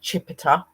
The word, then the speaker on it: Chipita: Capita because that's Chipita, sorry, not Capita, Chipita, because I don't really know how to say the other stuff to do with her and that, guys.